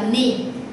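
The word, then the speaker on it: 二: Mình đọc là ni, thường thường trong số đếm mình đọc là ni.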